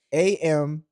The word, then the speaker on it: Chamillionaire: Y'all tell him in the comments that it's pronounced Chamillionaire.